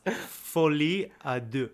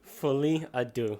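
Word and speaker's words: Folie à Deux: how do you say fly Adu fly Adu apparently yeah apparently the French which translates to um which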